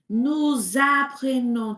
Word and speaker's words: nous apprenons: Et là, tu peux dire nous apprenons. Tu peux faire la liaison, tu vois?